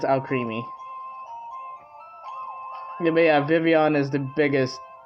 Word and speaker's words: Vivillon: watched the anime and I thought it was pron uh pronounced Vivillon or vilon and then I found out it was just vivon the L's are silent it's like oh okay